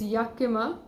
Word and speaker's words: Yakima: sorry for the mispronunciation the y8k I ma is Yakima okay it's Rania kima because I was thinking it's sounding a bit weird because it's somewhere in America and American pronunciation can never be a kima its Yakima okay so yeah kima